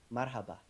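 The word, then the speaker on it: مرحبا: Marhaba.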